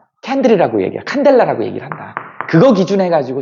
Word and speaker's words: 칸델라: 이걸 뭐라고 읽냐면 칸델라라 그래요.